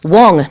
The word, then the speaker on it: Wong: I'd also like to mention for headline number 1, the name of the man who's been released is Joshua Wong, not Wing.